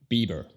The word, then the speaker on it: Bieber: Luego el apellido, Bieber, Bieber. Escúchala lento, Bieber. La primera sílaba obviamente es la enfatizada, B, B. La otra no, B, B. Y luego tenemos la R, Bieber, Bieber, Bieber.